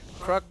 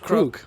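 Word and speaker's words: Krook: did all the work crook or technically it should be pronounced Kook which I'm all right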